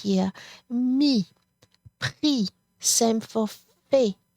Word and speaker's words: fait: Mi, pris, same for fait. You do not pronounce that T.